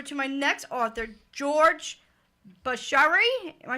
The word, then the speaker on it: Buccheri: So I'm going to turn the mic over to my next author, George Buccheri. Am I saying it right? Yeah, Buccheri.